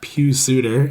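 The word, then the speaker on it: Pius Suter: with Kane or or the newly ascendant uh Pew Suitor as we've decided uh his name is pronounced yeah that could be worth a look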